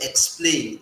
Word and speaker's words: explain: Meanwhile, if you say explain, it sounds like K and X, K and S, x, instead of z.